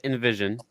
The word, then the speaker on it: NVSN: music at so um our name is actually pronounced Invision ah okay yeah uh